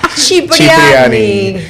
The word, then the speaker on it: Cipriani: Es que ya le pregunté, estamos hablando hace rato del cardenal y quiero que Lorena nos diga cómo se pronuncia. Quieren que diga Cipriani. Cipriani.